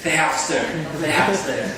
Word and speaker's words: Thapster: The name actually came from the word tap, T-A-P. And why it is T-S? Because it's Thai song, right? It's a T-S-A-P. So if you want to pronounce it correctly, you have to say Thapster.